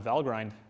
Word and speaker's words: Valgrind: I'm going to say Val grind but the correct pronunciation is actually valgrind because it's from Norse mythology but just as a